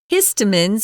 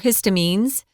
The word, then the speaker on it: histamines: There are allergy medications, which help block the release of something called histamines or histamines. You could pronounce it either way.